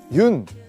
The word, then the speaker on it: 윤: 여기 보시면 흙이 있는데요 많은 분들이 아마 그 윤 이제 윤이라고 읽거든요 연이라고 읽으실 수도 있고 뭐 여러가지 방법으로 읽을 수 있는데 그 윤형근 화백님의 성입니다